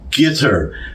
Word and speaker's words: Qatar: which I have been pronouncing as gter now I got a well I would say a criticism but it was more of a mocking from a commenter so I thought I would just fill everybody in because I was wondering myself I hear cutter guitar all kinds of ways and I went on